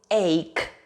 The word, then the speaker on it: ache: the doctor is an ache when you have an egg careful with the pronunciation because it's not h it is ache you feel a continuous